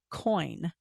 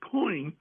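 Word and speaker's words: Coyne: including the pilot Lawrence coin a c Co y n but it's pronounced coin okay that claim to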